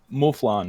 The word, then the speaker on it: Mufflon: and we have uh it's mufflon right i said it right correct you said it right this time but here we go